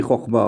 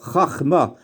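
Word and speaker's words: חכמה: Vous allez me dire, pourquoi je dis Chochma? On devrait dire Chachma. Il y a un principe. Quand le kamatz est suivi par un sheva, il se prononce haut. En général, hein. Pas toujours, mais en général, oui.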